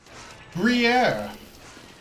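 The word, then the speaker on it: Gruyère: Gruyere. I'll take that. I'm glad I can pronounce that now.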